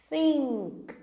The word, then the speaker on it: think: Think. Percebam que a língua da teacher tá passando entre os dentes.